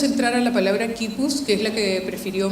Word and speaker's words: quipu: Esta es una palabra quechua y la normalización significa así es como se debe pronunciar, quipu.